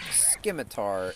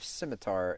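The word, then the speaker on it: scimitar: really mad about um people mispronouncing like really obvious things in Runescape like simitar like for as long as RuneScape has been a thing people have said skar instead of simitar I mean it's just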